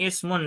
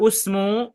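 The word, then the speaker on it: اسم: Jadi tidak usmu atau tidak asmu, tapi ismu. Bukan juga ubnu atau abnu, melainkan ibnu. Nah, contoh perhatikan di bagian yang atasnya. Ismul waladi Muhammadun.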